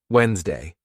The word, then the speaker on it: Wednesday: Now let's backchain it. Ready? Day, Wednesday. Do you see how easy it became when we did the two things? We backchained it, plus we wrote it phonetically. We wrote what we should actually be saying. Day, Wednesday. Good.